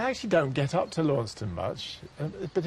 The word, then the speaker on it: Launceston: That's right, Launceston. Launceston. Yeah, you kind of miss out all the C's and T's, so it's L-A-N-S-O-N, Launceston.